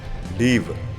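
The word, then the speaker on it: ריב: 중요한 점은 재론하는 표현인데 리브 리브라는 어 발음인데 싸우다 다투다의 뜻이 있습니다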